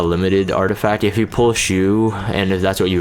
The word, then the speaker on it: Choux: strips it, she's not going to defense break Choux, which is apparently how you pronounce her name.